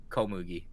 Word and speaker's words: Komugi: than anything else, and her name reminds me, it rhymes with like wheat, Komugi.